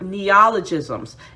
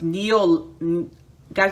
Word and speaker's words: neologism: they tend to have neologisms and what is that or some some um pronounces neo guys i'm sorry my pronunciation is horrible neologism so i'll spell it